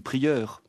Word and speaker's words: prieure: Mais vous dites une supérieure, une prieure. Vous ne prononcez pas le E final et c'est du féminin.